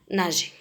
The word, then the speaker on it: nageait: Alors, il naguait, alors on ajoute E. Il nageait.